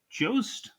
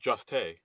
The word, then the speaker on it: Jost: Colin Jost. I believe Hmm. it's pronounced Juste.